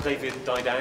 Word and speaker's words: David Didau: My name's David Didau, in case you're wondering how to pronounce it.